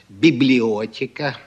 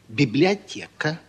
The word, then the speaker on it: библиотека: очень хорошо Да да А кто это говорил в прошлый раз библиотека положили мы А что неправильно неправильно А как же правильно библиотека положили а это он